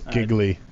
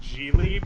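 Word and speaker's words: Gigli: I thought it was giggly it's I think it's pronounced jely but it definitely is phonetically pronounced as giggly so you know it's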